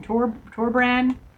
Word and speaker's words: Torbran: Torbran? Torbran.